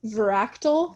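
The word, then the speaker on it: Varactyl: yeah i had to i had to look at about how you pronounce it so i'm a professional now veractal fractal yeah fractal yeah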